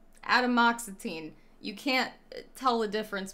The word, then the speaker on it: atomoxetine: i i should know adam moxetine okay you ju as far you spelled it phonetically right but technically wrong and that's why i couldn't find it like that's how it sounds like fully that's how